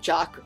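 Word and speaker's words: Jacques: e um and although it might be like jock not Jack if we spell it like that but I don't know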